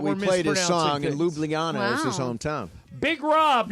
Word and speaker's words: Ljubljana: Yes, it's Ljubljana. I've never heard it pronounced. Steve, do you know how to pronounce it? Yes, I told you last time. Ljubljana.